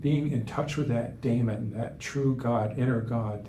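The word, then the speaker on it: daimon: being in touch with our inner God our Damon d a i m o n that was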